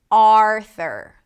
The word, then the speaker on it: Arthur: Even though it's spelled with a U, there is no U. Arthur. It's called a schwah. And you can learn more about it if you click the link in the show notes in the description. Arthur. Primary stress is on the first syllable.